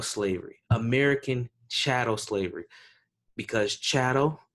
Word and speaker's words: chattel: American shadow slavery because Chado rhymes with cattle and it's very important